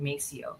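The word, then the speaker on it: Maceo: Uh yeah, so they didn't they didn't name them they named them mo, but in English they pronounced it Macio.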